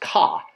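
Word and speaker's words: kꜣ: Next up for offerings are oxes, or ox, which is pronounced ka.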